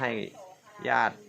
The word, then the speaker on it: ญาติ: อา ตาย อ้า นะ ครับ แล้ว ก็ ถ้า ญาติ พี่ น้อง นะ ครับ ยอ อา ติ ตอน ขั้น ถึง ๆ ฉัน พยาติ ที่ นอน ครับ แต่ อ่าน ว่า ญาติ พี่ น้อง ครับ น้อง ๆ ไม่ โทร น้อง